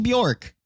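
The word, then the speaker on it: Björk: But are we pronouncing her name wrong? No, it's Bjork. It's right. Bjork? That's how you say We're Bjork.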